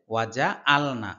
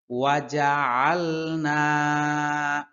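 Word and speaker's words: وَجَعَلْنَا: হবে ওয়াজ আলনা অনেকে বলে ওয়াজ আল সম্পূর্ণ ভুল ওয়াজ আলনা ওয়াজালনা আলনা ওয়াজ আলনা মিম বাইনি মিম এই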